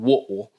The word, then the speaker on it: Whitwell: into a little town if you're from there called woodwall but it's spelled w h i t w e l l whitwell tennessee and she